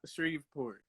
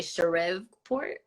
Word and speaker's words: Shreveport: So I don't Shreveport. I live in Shreveport. I was not gonna pronounce it like that. I was gonna say Shreveport.